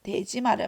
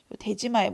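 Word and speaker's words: 出島: 제한하기 위한 목적으로 인공섬 대지마를 만든다라고 했었죠. 그죠? 마가 섬이에요, 섬. 섬도자를 마라고 읽는 거예요. 스시마. 독도 같은 경우에 다케시마라고 읽는 것처럼.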